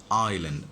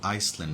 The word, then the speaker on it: island: What's the pronunciation? দেখো আইল্যান্ড, আইসল্যান্ড না কেউ চান আইল্যান্ড, কেমন দ্বীপ, কেমন এটা একটা দ্বীপ।